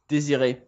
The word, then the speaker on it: Désiré: Is that Désiré or Desire? Désiré. Thank you. Désiré. That's the game. So, Chris, if you could tell us about this game. All right. So, Désiré is a poetic point-and-click adventure game in black and white.